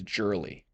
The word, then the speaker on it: Jurley: And that's how you actually pronounce my last name is Jurly. It's not girly, everyone. It's girly. Make sure you get it right.